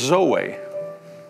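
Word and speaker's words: ζωή: word life is this word right here is pronounced Zoe it's the nature of God it's the life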